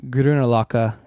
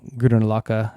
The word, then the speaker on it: Grünerløkka: If you want to spend some time in a neighborhood for nightlife, like we mentioned before, Grünerløkka is the neighborhood probably that you want to